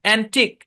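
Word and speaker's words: antique: শব্দের শেষে কিউ ইউ ই একসাথে থাকবে এবং ইউ ই সাইলেন্ট থাকবে। আচ্ছা, খেয়াল করেন। ইউনিক, এটা silent. Check, U E silent. মস্ক, ইউ E silent. অ্যান্টিক, ইউ E silent.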